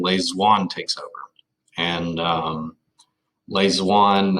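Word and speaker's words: Lê Duẩn: And Le Duan, that's actually spelled with a D, not a Z, so D-U-A-N.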